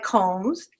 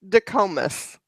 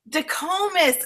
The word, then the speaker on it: Dicomes: And so excited to have Tristan Combs. Did I say it correctly? You're close. Okay, you say it. It's Tristan DeComas. DeComas.